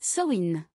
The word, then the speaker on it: Samain: est la fête celtique de Samain prononcé SN cette fête était célébrée